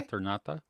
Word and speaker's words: Eternauta: How did you pronounce the? You said Eternaut. Yeah, What did you El say? Eternauta.